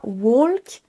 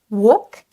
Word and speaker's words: walk: Tous ces mots sont piégeurs parce qu'ils ont un L silencieux. On ne dit pas walk, talk, would, could et should.